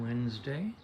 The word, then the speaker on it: Wednesday: It's uh4 to 8 in the morning on a Wednesday. Pronounced Wednesday even though it's spelled wedd. Don't know why.